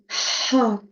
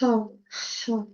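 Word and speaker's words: ح: C'est ha. Alors, ça doit venir vraiment du fond de la gorge. Ha, ha.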